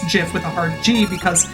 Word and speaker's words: GIF: Oh, somebody did ask about GIF earlier. Fair enough. I pronounce it with a soft G.